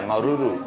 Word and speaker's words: Maruru: H yeah, Maruru.